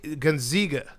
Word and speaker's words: Gonzaga: It's a long A. Zaga. Gonzaga.